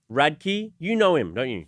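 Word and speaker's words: Radke: How do you pronounce it? Radkkey. Radkkey.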